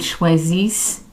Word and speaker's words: choisissent: And remember that we do not pronounce the INT, at the end of a verb. ils choisissent, elles choisissent.